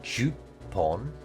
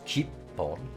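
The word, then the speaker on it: 十本: So you might guess that it would be pronounced juppon, but that's actually not correct. It's jippon.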